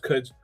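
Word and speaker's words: Quds: But yeah, but it's pronounced Cuds.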